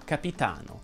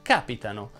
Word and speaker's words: capitano: Prendiamo ad esempio la parola capitano. È una piana perché l'accento cade sulla penultima sillaba, capitano. Se noi lo spostiamo sulla terz'ultima sillaba, diventa capitano.